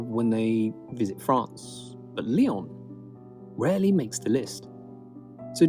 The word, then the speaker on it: Lyon: Lyon. Hey, I pronounced it right.